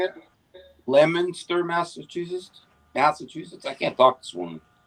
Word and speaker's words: Leominster: huge there I stand correct Omar says it's Leominster is that how you say it Leominster Massachusetts Massachusetts I can't talk this woman Leominster